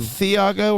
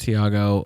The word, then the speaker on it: Thiago: Is it Theiago or Thiago? It's just Thiago.